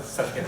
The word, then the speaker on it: Zatkin: It's pronounced like, yeah, Zatkin.